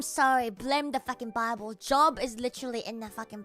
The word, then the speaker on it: Job: No, I'm refusing to call it Joe B. It's written like job, and I'll pronounce it like job. There's no way J-O-B is pronounced Joe B, because that is fucking crazy.